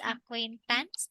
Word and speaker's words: acquaintance: So, which one is the stress? Acquaint, Yes, in quain. Exactly.